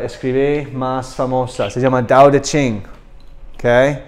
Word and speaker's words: Tao Te Ching: Y esto es el libro que él escribí más famoso, se llama Tao Te Ching. Okay, este se pronuncia da, not ta, but se escribe ta. Okay, Tao Te Ching.